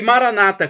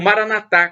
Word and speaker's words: Maranata: o seu bem e Maranata como dizem os protestantes com a tônica na penúltima sílaba ou Maranatha Como disse os católicos com a tônica na última sílaba significado é o mesmo